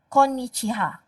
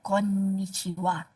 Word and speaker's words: こんにちは: this one um anybody know why we pronounce what even though the character is ha why not konichiha why konnichiwa anybody know so anime person